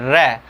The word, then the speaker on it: र: र को उच्चारण करने में हमारी जिह्वा क्या होती है, मुड़ करके ऐसे बिल्कुल फटाक से ऐसे लुढ़क करके जाती है, ठीक है, उच्चारण र, ठीक है, र। और इसके उच्चारण में हमारी जिह्वा जो होती है क्या करती है, वाइब्रेट होती है, कंपन करती है, ठीक है, क्या करती है, कंपन करती है।